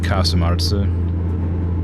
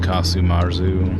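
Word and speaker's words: casu marzu: Casumarza, Sardinian pronunciation, literally rotten, putrid cheese. Yeah, ugh. Sometimes spelled Casumarzu, and also called Casu Mode, Casu Kundiru, and Casu Frosiju.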